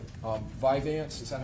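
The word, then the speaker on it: Vyvanse: Um Viveance. Is that how you pronounce it?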